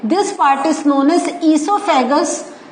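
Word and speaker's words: oesophagus: नाउ इसके बाद हमारा एक आ जाता है, this part is known as ईसोफेगस। सो ये जो है, तो हम कहते हैं ईसोफेगस, बट the spelling starts with O.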